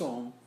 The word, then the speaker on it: Om: So when you pronounce Om, you can speak 3 ways. जिसमें A पे emphasis होता है, फिर U पे होता है, फिर M पे होता है. In between there is a silence.